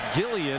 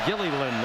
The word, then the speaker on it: Gilliland: He's been known as Gillian. It's even listed as that in the pronunciation guide at Nebraska. But Holly Rose saw his dad today before the game, and he said our family name is pronounced Gilliland. That L at the end is pronounced.